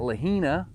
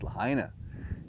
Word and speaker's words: Lahaina: i'm saying it right it's not lahina right it's lahaina it's not canapali right it's